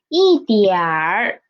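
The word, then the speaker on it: 一点儿: Next one is 一点儿 Okay, we can see here it is a at the end of this syllable, and in the pinyin we can see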